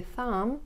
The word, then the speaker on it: thumb: He is under the thumb of his wife. Он не независим в своих решениях, он находится под каблуком своей жены. So, once again, it is a thumb. Thumb. B is not pronounced.